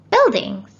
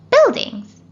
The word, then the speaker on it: buildings: it's a silent u the silent u is not pronounced it's silent in words